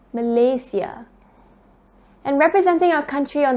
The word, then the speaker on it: Malaysia: it was then that i was taught the right way of pronouncing our country's name so it's not malaysia it's malaysia and representing our country